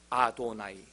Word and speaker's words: 아도나이: 글은 여호와 의미로 모음을 써놓고 읽을 때는 어떻게 읽느냐? 아도나이라고 읽어요.